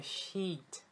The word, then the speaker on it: sheet: Eu tenho que prolongar esses dois S. Porque se eu falar de uma maneira rápida e brusca e eu pronunciar esse E como um I, vira um palavrão em inglês.